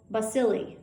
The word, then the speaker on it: bacilli: e coli for example rod-shaped bacteria are called bacilli that's spelled b-a-c-i-l-l-i finally spiral-shaped bacteria known as